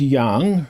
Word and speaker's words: yang: I'll probably say yang because that's what I've said most of my life till I was corrected. No, it's not yang. You know, does not rhyme with wang.